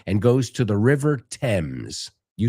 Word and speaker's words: Thames: No, the Thames. You say Támesis? Is that how you say it in Spanish? The famous River Thames. So just so you know, es más como T-E-M-S, como se pronuncia en inglés.